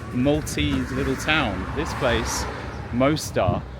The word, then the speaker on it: Mosta: This place, Mosta. How should I say it? Mosta? Is that how you say it, Maltese people? Mosta. Not like Mostar in Bosnia.